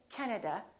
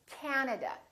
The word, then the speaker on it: Canada: three A's this time the first syllable is stressed this time this act is really long so don't say Canada say Canada Canada so you need to